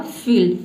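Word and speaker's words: field: तो एल को हम आधा ल पढ़ेंगे और डी को क्या पढ़ेंगे? ड पढ़ेंगे। यानी कि पूरा प्रोनाउंस करेंगे डी को तो ये हो जाएगा आपका आधा ल और ड पूरा बन जाएगा फील्ड फील्ड का मतलब होता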